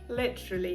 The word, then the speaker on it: literally: Нам дуже часто хочеться це вимовити як літера лі. Саме через лі. Але ні, зверніть увагу, тут коротенька и, ле, ли. Кінчик язика має опускатись вниз.